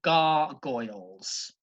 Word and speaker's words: gargoyles: next word you've got gargoyles two syllables both syllables begin with a girl gar and Goyle gargoyles obvious the plural form